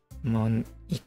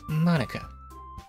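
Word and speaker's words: Monika: right in your name mon okay okay amazing puns there e that's not how you say my name at all okay okay confirm it is not in fact mon it is in fact Monica also that jokes makes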